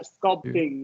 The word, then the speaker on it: sculpting: okay sculp sculpting sculpting do you pronounce p or not yeah yeah sculp thing yeah SC going be a stop PE though sculpting sculpting yeah sculpting